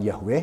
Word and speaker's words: Yahweh: Ya, pelafalannya seperti apa? Ada banyak diskusi tentang itu, tapi kami menggunakan pelafalan Yahweh misalnya, bahwa dialah Allahnya Abraham, Allahnya orang Israel, dan kemudian disebut Yesus sebagai Bapa.